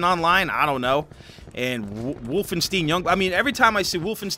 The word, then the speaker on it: Wolfenstein: me up last video I was pronouncing it wolfstein wolfen Wolfenstein like Frankenstein there you go I